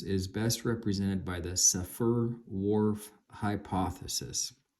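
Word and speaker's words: Sapir-Whorf: our cultural patterns is best represented by the safer Wharf hypothesis spelled s-a-p-i-r Dash w-h-o-r-f sapir Wharf hypothesis although some Scholars argue that our reality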